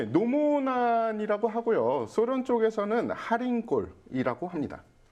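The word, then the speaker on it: Халхин Гол: 발음이 몽골 사람들이 약간 할인도 아니고 카린이라고 해요. 카린, 카린. KH 발. 그렇죠.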